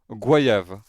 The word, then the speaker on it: goyave: Wikipédia plus Google, il y a que les Français d'Amérique et en Haïti qu'on le prononce guayave. Toute la francophonie le prononce goyave.